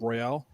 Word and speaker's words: Royale: Animal Crossing number 7s persona 5 Royale or royal however you want to pronounce don't i'm so confused by that word nowadays it is Royale I am trying to